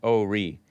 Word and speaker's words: Horry: ashley babbitt check out hori oh ori i call it horey h-o-r-r-y pronounce oh re horry county south carolina